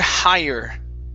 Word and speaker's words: higher: Next up is the word higher. Higher. Yeah, the GH. Remember that GH is silent.